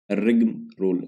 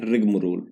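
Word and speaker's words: rigmarole: word है वो है रिगम रोल इसको बोलते हैं रिगम रोल ठीक है ए इसमें साइलेंट होता है यहां पे ठीक है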